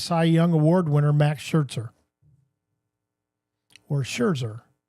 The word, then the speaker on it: Scherzer: Young Award winner Max Scherzer. or Scherzer. If you're German, you would pronounce that Schzer.